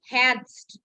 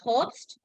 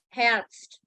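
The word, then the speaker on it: Herbst: uh Autumn perhapsed yeah so it is called hats not host it is enhanced make sure when you say heads so the pronunciation of e should go very very very uh prominent hairst not host cast okay now yeah this is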